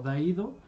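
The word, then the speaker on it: Daidō: es hiromichi moriyama pero como los caracteres se pronuncian exactamente igual de hiromichi se pueden leer como da ido entonces se le quedó de aído de acuerdo ahora un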